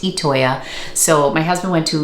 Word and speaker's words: Itoya: I was calling it Itoya. It's actually pronounced Itoya.